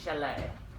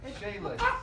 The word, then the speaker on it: chalet: Okay, Miss Chalet. Shayla. No, chalet. It's French. You gotta go chalet.